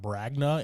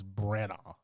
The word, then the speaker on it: Branagh: It's not Bragna, it's Branagh. I'm gonna pronounce that right one of these days. Yeah, the G is definitely not there in the middle, and it's like silent too.